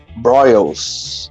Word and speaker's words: Broyles: que deixei escapar aí na na sinopse William broyles aqui é assim que se pronuncia Júnior né também um baita roteirista trabalhou